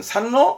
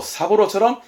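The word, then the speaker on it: 三郎: 큰아들은 이치로, 둘째 아들은 지로, 셋째 아들은 산로? 아니요. 사부로입니다. 네, 이름자는 원래 그럼 어렵죠, 뭐. 그래서 이치로, 지로, 사부로처럼 이름자에 주로 붙이게 되는데, 생활적으로 쓰는 부분은 이 정도 하나 더 있습니다.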